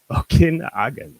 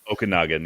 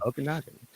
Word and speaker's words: Okanagan: Okinagen, right? Is that how it's said? Okanagan. Yeah. Okanagan.